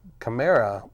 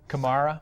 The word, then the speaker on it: Kamara: that here's a surprise chimera am i pronouncing that right Alvin chimera Kamara Kamara he wasn't even on my